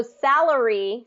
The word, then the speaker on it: salary: a word so like salary is first syllable stress and the second syllable then Sal salary salary because it's not that stress syllable a lot of times what happens is that that vow gets reduced to that schah like you're saying that uh sound okay okay so like